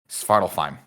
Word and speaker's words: Svartalfheim: Svartalheim. No, there's no H. It's an F. Svartalfheim.